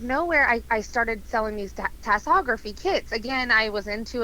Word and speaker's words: tasseography: To Tassography. Tassography. Yeah, give it a Google. It's fascinating. How do you spell it?